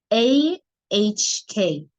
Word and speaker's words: Oc: As you can see, it's spelled OC, but the pronunciation is AHK.